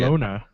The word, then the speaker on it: Barcelona: I said it last week, and Matt goes, "That's not how you pronounce it." So I was going to have Matt say it. Barcelona. Say it again. Barcelona. Barcelona. Oh, the Castilian Spanish.